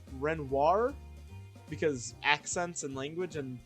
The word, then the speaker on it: Renoir: I also saw a lot of people questioning my French-speaking skills because I pronounce Parasol's last name as Raynor, but it's supposed to be pronounced Renoir because accents and language and, they're based off French people.